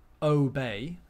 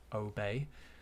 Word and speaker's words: obey: not the same throughout so we have obey so let's call that a strong o sound o obey think of it as sounding like the letter name o next we have obstacle